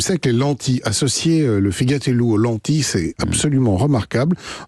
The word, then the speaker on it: figatellu: chronique, ne dites jamais figatello si vous allez en Corse, c'est un figatel. Vous ne prononcez pas la fin, tout simplement.